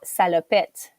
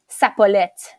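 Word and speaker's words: salopette: in French it's called salopet but he he was confusing a couple of letters and he was saying saet instead of salopet so when he I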